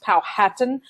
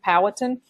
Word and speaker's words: Powhatan: Sometimes you'll hear it pronounced Powhatan, but I pronounce it Chief Powhatan.